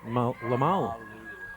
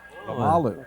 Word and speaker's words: Lamalou: Is it Lamalou or is it Lamalu? Lamalou.